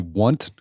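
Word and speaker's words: Wundt: And then you bring this idea of the want curve. Did I pronounce that? W U N DT. Yeah, I've been debating how I should be I like should I put on the full Germanic the vaunt curve important.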